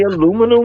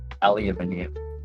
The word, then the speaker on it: aluminium: Aluminum was? Aluminium. Said how it's spelled.